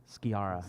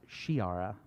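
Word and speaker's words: Sciarra: what's the guy's name skiara yara which actually should be pronounced shiara oh yeah i read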